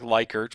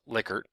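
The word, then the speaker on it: Likert: see liquer and I know it looks like lyker but it is actually pronounced liquer and a traditional liquor scale is what's shown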